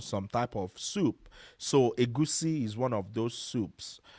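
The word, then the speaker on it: egusi: Moving on, we also have a goosey soup. So agusi is spelled e g u si.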